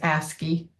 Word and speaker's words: ASCII: The first officially recognized character encoding was the 7-bit ASC2, sometimes pronounced as ASCII, American Standard Code for Information Interchange, and that's a character set.